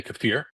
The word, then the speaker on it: kefir: I like kefir. Or if you want to pronounce it correctly correctly, which will sound like an affectation, you can say kafir, but then no one will know what you're talking about.